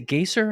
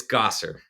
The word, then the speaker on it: Gasser: in the church Chef is it is it gayer how do I I never I only read your last name how do you say it it's Gosser goser okay now all the